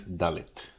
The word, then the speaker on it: Dalet: So Aleph, Bet, Gimel, Daled, Some people pronounce this Dalet, a bit old-timey.